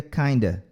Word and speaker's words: kind of: Kind of vira kinda.